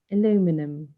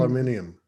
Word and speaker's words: aluminium: Aluminum. You say aluminum or Aluminum. aluminium?